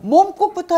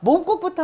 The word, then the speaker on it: 몸국: 자, 먼저 몸국부터 한번 따라해 봅시다. 자, 발음을 먼저 해주시면. 예, 연습을 하면 예를 들면 몸국을 아까 제도도 모자반국이기 때문에 몸 하지 말고 몸. 이렇게 좀 길게 발음을 해가면 자연히 모험이 어려운 게 아니에요.